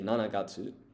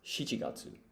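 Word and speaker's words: 七月: Now, it's tempting here to say nanagatu, but once again, this has an alternative reading when you're not counting. So, it's shiatsu.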